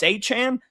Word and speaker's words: Achane: Oh, it's Achane.